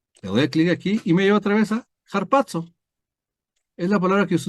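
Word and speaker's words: ἁρπάζω: Y otra vez, Strong G726, harpazo. Picas acá y ya tienes ahí. Esa es la transcripción, ¿verdad? Y esa es la pronunciación, cuando quieras verlo así, ¿no? Es harpazo, ¿sí?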